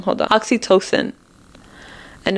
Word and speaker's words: oxytocin: us females we release this hormone called oxytocin oxytoden oxy token I think I'm saying it wrong hold on oxytocin and it's a love hormone and it makes